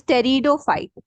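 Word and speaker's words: Pteridophyte: this one this is Tero fight p t e r i d o Tero fight the p is silent okay e e e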